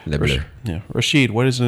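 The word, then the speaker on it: Les Bleus: That's how you pronounce it? Yeah, that's correct. Le Bleu.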